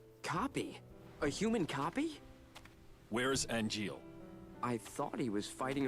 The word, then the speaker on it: Angeal: Angeal, I should say. Well, they pronounce it Angeal, but...